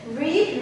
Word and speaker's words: read: on you're regular okay read read read read read read it's actually read read read okay pronunciation changes but spelling is the same and that's also irregular